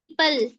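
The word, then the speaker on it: people: अगर ओ पहले इ आए तो ओ साइलेंट हो जाता है। जैसे पीपल देखें ओ के पहले अगर ओ के पहले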